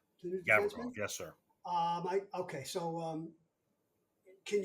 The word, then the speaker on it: Gavrikov: Gavrikov, is that how we pronounce his name? The new defenseman? Gavrikov, yes, sir.